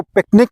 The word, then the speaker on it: PQNK: इसको पिकनिक के तौर पर प्रोनाउंस किया जाता है।